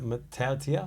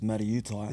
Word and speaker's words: Matautia: I was like, is it Matautia? Yeah, that's how you say it. It was sort of my fault though, because Yeah. in 20s, I would try and say it to the people or the commentators, and they couldn't say it right. And like, I'd have a different last name every 20s game, and the easiest name they could say was Matautai.